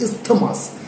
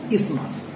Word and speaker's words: isthmus: Though its spelling is isthmus, we will not pronounce it as isthmus. The actual pronunciation is isthmus.